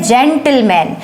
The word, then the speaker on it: gentleman: जब किसी स्पेलिंग में जी के बाद अगर ई, आई या वाई हो, तो जी का वहाँ पर जो प्रोनाउंसिएशन होता है वो ज़्यादातर ज होता है। जैसे ये क्या स्पेलिंग हमारे पास, GENTLEMAN, ये है जेंटलमैन।